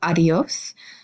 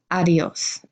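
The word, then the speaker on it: adiós: or goodbye we have adios it's very important to recognize that your stress is gonna be on the last syllable and the bowels do merge together a little bit adios and see you later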